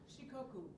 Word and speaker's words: Shikoku: Shikoku is our sister city island. Wow. Thank you for, yeah, and it's pronounced again? Shikoku. Yes, exactly what she said.